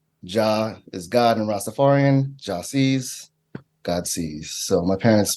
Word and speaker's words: Jahsee: embrace it, but like people say it wrong all the time when they see it, even though it's phonetic, Jahsee, Jahsee.